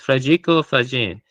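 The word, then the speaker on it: Federico Faggin: I was pronouncing his name wrong before, but it's Frao Fajin and he's he's arguing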